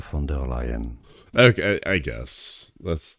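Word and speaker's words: von der Leyen: the European Commission let's go through the German pronunciation the original pronunciation of her name. I don't like this guy's voice, man. German from Germany. Not Dutch. German. German pronunciation. Ursula. Ursula. Fer lion. Ursula. Fonder lion.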